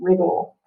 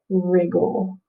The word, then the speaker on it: wriggle: double g's l e wriggle let me see if you can see it wriggle backwards wriggle w-r-i-g-g-l-e we need that we need that double g to make the eye short okay all right eraser